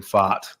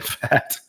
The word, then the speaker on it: Pfaadt: It is Brandon Pfaadt. You were correct, and it's not Brandon Pfaadt, as I wanted to pronounce it a few weeks ago.